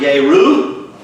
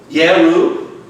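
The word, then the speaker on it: ירו: It's the word Yeru or Jeru. You know, pronounce the J with a Y or I or Yod. Yeru.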